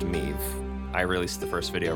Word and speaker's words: Meve: Witcher 2 again, and the Queen of Lyria is pronounced Meve.